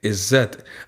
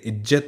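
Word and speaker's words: इज़्ज़त: ज नहीं पढ़ सकते, इज्जत नहीं बोलेंगे, इज्जत बोलेंगे, क्योंकि यहाँ पर उसके नीचे जो छोटी सी बिंदी लगी है इसे कहते हैं नुक्ता। जब ये लगा होता है तो उच्चारण अक्सर बदल जाता है।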